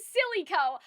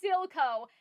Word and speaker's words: Silco: I see now it's Silco, not, silicone, as in, like, you know, or Silaco, as in silicone.